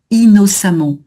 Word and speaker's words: innocemment: Donc j'ai juste noté ici, hein, la nasale tombe à cause de la voyelle derrière le double N, donc on prononce bien le I innocemment. Hein, j'avais déchaîné innocemment sa colère.